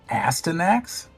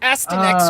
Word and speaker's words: Astyanax: It's pronounced that way, but it's not spelled that way.